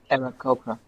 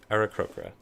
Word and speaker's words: Aarakocra: So Milvane, gosh, how do you pronounce this? Arakora? I can't remember. Arakokoro? Arakokora. Aarakocra. Yep, Arakokra.